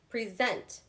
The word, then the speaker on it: present: So it is on the second syllable, not the first.